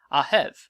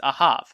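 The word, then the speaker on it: אהב: spelling with English letters that tell you how the hue would be pronounced ahab or depending on other spellings aheb if i click on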